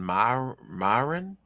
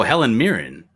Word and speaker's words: Mirren: who is it Helen Helena boham Carter Helen Myron I'm I don't know I'm drawing right now how do you spell it m-i-r-r-e-n oh Helen Mirren oh my God yeah I had a crush